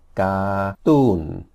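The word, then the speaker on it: การ์ตูน: So it's ga, you don't pronounce the R, ga-toon, which is a cartoon.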